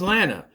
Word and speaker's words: Lana: Yes, I am going to pronounce her name like that. Lana walks in. Rhymes with banana, you know.